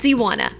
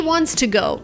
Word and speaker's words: wants to: But pay attention, because you don't wanna say he wanna. This is a mistake. In this case, you must pronounce the T and the S. He wants to go.